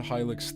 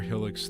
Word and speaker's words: Helix: I cannot wait to hear about Hylix 3. I need Hylix 3 in my life. Or Helix 3. I know it's pronounced Helix, but Helix was always how I pronounced it.